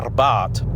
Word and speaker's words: Abarth: Oh, incidentally, I do know that it's properly pronounced Abarth, but I'm not going to do that for the whole review, I just can't be bothered.